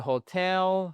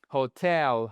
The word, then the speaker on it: hotel: He stayed at the hotel for three days. Hotel. Hotel. Vous voyez, vous avez votre accentuation sur la seconde syllabe.